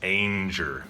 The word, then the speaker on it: Ainger: Timothy danger and I was informed that's exactly how you pronounce it it's a ing er it's pronounced Ange er and he says he gets other versions all